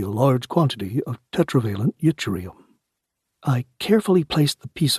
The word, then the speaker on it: yttrium: Euribum, or yttrium as the rest of us say it, is almost exclusively found